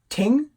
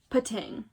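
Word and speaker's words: Pting: So we have Ting. I assume the P is silent. Pating.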